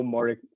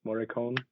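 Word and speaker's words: Morricone: Carson Eno Moricon Moricone.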